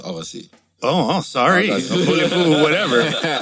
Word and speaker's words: Agassi: just, you can say either way. Yeah. But It is pronounced Avasi.